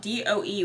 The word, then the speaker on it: Doe: It's funny because it's spelled D-O-E, which is just Doe, which is Jane Doe when you don't know who someone is.